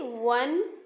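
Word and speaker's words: one: एन का यूज करेंगे वही अगर वो का साउंड आ ना हो करके व की तरह आए जैसे वन तो यहां पे जो लेटर है वो है तो ववे बट जो साउंड है वो ववे का नहीं है बल्कि वा है एक कॉन्सोनेंट साउंड है तो इसीलिए यहां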